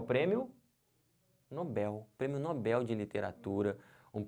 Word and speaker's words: Nobel: Eles não estão vendo porque se você falar Nobel você vai acabar fazendo isso aqui ó colocando acento porque porque paroxítonas terminadas em L leva um acento a gente vai ver isso em acentuação daqui a pouco próximas aulas mas perceberam se você fala errado você vai escrever errado você botar um acento onde não tem isso aqui está errado o certo não é Nobel o certo é Nobel aqui ó como é